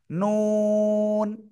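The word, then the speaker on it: ن: লাগিয়ে নুন হয় উপরে জিহ্বার ওকে সবাই এবার নুন অক্ষরটা উচ্চারণ করতে পারবেন সবাই একটু নুন অক্ষরটা উচ্চারণ করেন তো দেখি কেমন পড়েন নুন নুন জাহানারা নুন নুন জাহানারা কোথায় জাহানারা নুন নুন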